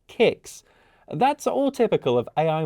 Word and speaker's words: CICS: It's missed me saying a T in HTTP, and it had no idea that KS is actually a product called CICS, which is pronounced KICS.